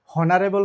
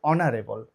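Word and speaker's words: honourable: মত যেমন দেখো এখানে এটার উচ্চারণ কিন্তু হনারেবল হবে না এটার উচ্চারণটা কি হবে অনারেবল তার মানে এইচটাকে বাদ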